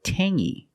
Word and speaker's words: tangy: clingy or this word Tangy we have the same sound it's the nasal sound only Tangy Tangy it's not Tangy it's Tangy Tang is a flavor when